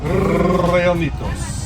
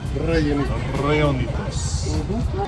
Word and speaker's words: Rellenitos: You have to pronounce the R's. Rellenitos. You know girls love that, right? There you go. Rellenitos.